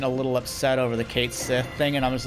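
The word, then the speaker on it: Cait Sith: I don't speak Gaelic, but I was like, there's no way in hell they intended the proper pronunciation. So I was like, you know, they pronounced it like they spelt it.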